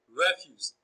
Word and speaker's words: refuse: Option A, refuse. Refuse is also a bisyllabic noun, so it is stressed on the first syllable.